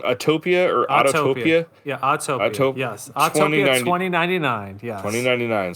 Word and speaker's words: Autopia: Yeah, Autopia.